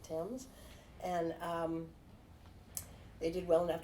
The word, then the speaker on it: Thames: He had a hard goods store on Thames Street, and that's the way we pronounce it because our grandparents pronounced it Thames.